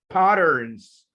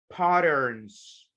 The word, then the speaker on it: patterns: So collected, researchers collected data on the sleep patterns. Guys, remember, if you have a letter T, two letter T's, between vowels, the T is pronounced like an R. Era española, right? And we say patterns.